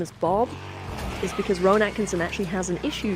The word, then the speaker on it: Rowan Atkinson: It's Rowan Atkinson, isn't it?